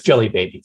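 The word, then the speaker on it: Djelibeybi: of the city nations is spelled in a really weird way with a d j e l y e b f but it's jelly baby ah okay and i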